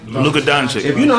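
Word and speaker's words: Luka Dončić: Luka Doncic.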